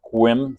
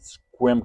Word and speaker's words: Sequim: some of you some of us don't it's pronounced squim squim kind of just hit the I the S